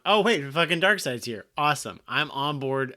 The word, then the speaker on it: Darkseid: Darkseid?